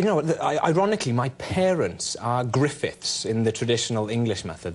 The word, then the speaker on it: Gruffudd: And then Gruffudd is G-R-U-F-F-U-D-D, Gruffudd. Yes, that's how you would pronounce it, yes, phonetically, looking yes, at it.